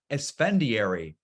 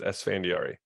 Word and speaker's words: Esfandiary: at evoke Capital I'd like to welcome esfendiary thanks Mark for having me I'm excited to